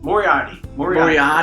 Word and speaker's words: Moriarty: Moriarty. That's how you pronounce it.